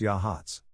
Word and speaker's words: Yachats: a classic Beach Hamlet on the central Oregon coast pronounced yahs the community is bounded